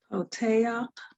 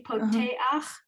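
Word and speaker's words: פּוֹתֵחַ: So the first word, you see poteach. So Uh-huh. the end of poteach, you have the chet with the a under it, and that we say it as ach.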